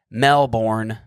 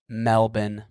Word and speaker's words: Melbourne: When I first came here, I was calling it Melbourne, Australia. That's how it looks like you'd say it. It's how it's spelt, kind of. But no, it's Melbourne.